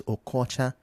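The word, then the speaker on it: Okocha: You also need to learn how to pronounce the local names like OCJ ocha. It's okoocha.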